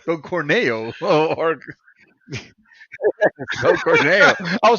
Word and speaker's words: Corneo: Dude, there was a conversation of a husband pretty much pimping Don his wife Cornell, to say it right. Don Corneo or Don Corneo.